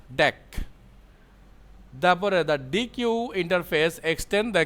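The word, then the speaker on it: deque: The name DQ is short for double ended Q and is usually pronounced deck.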